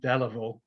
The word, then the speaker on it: Delavale: Sorry, I call him Delavale because that's the pronunciation we use today.